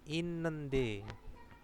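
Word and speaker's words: 있는데: In ya, ini bukan it bacanya tapi inende. Nah, ini ada hukum bacaannya, makanya dibaca seperti itu.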